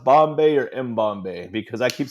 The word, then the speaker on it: Mbombay: So I'm So it's not pronounced Bombay but Mbombay is cool.